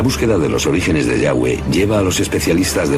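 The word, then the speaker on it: Yahweh: y hw área y pensamos que probablemente se pronunciaba yagüe o algo así pero ya ve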